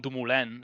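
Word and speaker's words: Dumoulin: like Tom dumulen like it's really he's Dutch but you're pronouncing him and it was as if it was a French name so some names are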